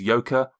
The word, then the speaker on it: Joka: you a little wink my name is yoka that is spelled j o k a and my surname is